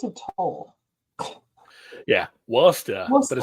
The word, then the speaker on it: Worcester: Yeah, Worcester. But it Worcester. spelled like Worcester.